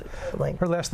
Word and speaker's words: Olenka: And how do you pronounce it? Olenka.